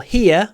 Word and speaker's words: hear: Очень странно, что глагол hear, первая форма hear, а вторая форма heard. Буквы не меняются, а произношение меняется. Hear, heard.